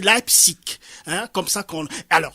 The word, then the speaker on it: Leipzig: C'est Leipzig. Leipzig, c'est en Allemagne, là. Je suis pas certain de comprendre, de connaître ce mot. La prononciation n'est toujours pas comme littéralement, mais en tout cas, c'est Leipzig.